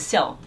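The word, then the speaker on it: 孝: Filial piety is pronounced as xiao in Mandarin, but if you look at it, happiness, xiao, is probably going to be the next wave of change.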